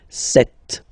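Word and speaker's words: sept: Then here, remember, P is not pronounced, okay? It doesn't exist, so you get this set sound.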